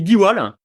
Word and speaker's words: Diwall: Ça se dit diwal.